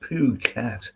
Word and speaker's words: Phuket: okay greetings uh Neil it's pronounced poo cat Okay Rudolph Jacobs nice